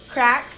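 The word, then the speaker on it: craic: oh she's got good crack and they actually spell it what do you mean by christmas c-r-a-i-c crack like oh like craig craig she's got good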